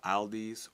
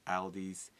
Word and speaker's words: Aldi: a grocery store called Aldi's or you can say it Aldys either way how he pronounced it don't get on